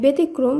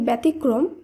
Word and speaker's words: ব্যতিক্রম: ব্যতীত নয় ব্যতীত একইভাবে আমরা বেশিরভাগ সময় বলে থাকি ব্যতিক্রম সেটি ভুল উচ্চারিত শব্দ শুদ্ধ উচ্চারণ হবে ব্যতিক্রম আশা করি বিষয়টি বোঝা